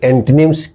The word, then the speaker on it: antonyms: तो सबसे पहले हम देखते हैं कि एंटोनिम्स क्या है। ANTONYMS, इसको जनरली लोग एंटोनिम्स भी पढ़ देते हैं, या एंटोनिम्स नहीं है, इसको एंटोनिम्स पढ़ा जाता है। इसका सही प्रोनाउंसिएशन होगा एंटनिम्स, एंटनिम्स।